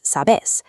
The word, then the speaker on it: sabés: The consistent rule shifts verbal stress to the final syllable. "Sabes" becomes "sabés". The barista will understand you